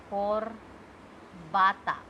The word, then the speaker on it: corbata: Then, if I am giving example of O, Corbata. Tie. Tie. Okay. Co, R, Ba, Ta. Corbata. This is how we pronounce it.